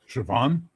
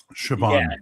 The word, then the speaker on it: Siobhan: she's got that name that I can never pronounce. Siobhan. Yeah, it's like s o i vb bb h Siobhan. S O I B H A N. Siobhan.